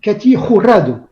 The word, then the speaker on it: Katy Jurado: Tous ce soir, on va mal prononcer son nom parce qu'on va le prononcer à la française. Normalement, on devrait dire Katy Jurado.